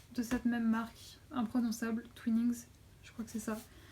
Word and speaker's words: Twinings: Il s'agit du Twinning, j'arrive pas à le prononcer, Twinings, ouais c'est ça.